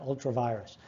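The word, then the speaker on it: ultra vires: of a doctrine called ultra veers all treviris means or sometimes people pronounce it ultra virus ultra virus just means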